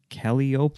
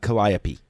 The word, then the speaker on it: Calliope: drama production podcast ok how do you say this Kelly Kelly okay Kelly up writing Oh No Calliope is that cuz that's how I appeal i opee yeah I'm pretty sure that's Calliope writing coach podcast ng